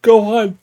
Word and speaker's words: Gohan: in it grandpa Gohan they say Gohan but it's Gohan godamn it like say it right damn it the Chi-Chi